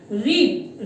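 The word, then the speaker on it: read: भी सेम रहती है, लेकिन इसका जो प्रोनाउंसिएशन है वो रेड, उसको प्रोनाउंस करते हैं हम रेड।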